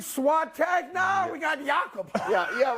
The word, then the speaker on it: Jakob: We don't pronounce the J over there? No, we don't know J's. They're Y's. Jakob. Yeah, Jakob. So, dude, like I said, muscle in his forehead.